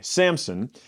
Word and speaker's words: Samson: kind of was like wait there's no P there and I had pronounced it with a p forever and so anyway Samson Judes 13-16 this will